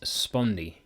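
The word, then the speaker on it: spondee: Now I believe the proper pronunciation for this next word is spundi.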